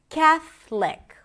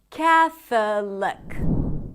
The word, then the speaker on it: Catholic: Catholic instead of Catholic.